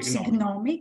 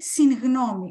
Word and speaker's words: συγγνώμη: I hope not signomi. Not signomi, syngnomi. Why? Because it's the preposition syn plus gnomi, opinion.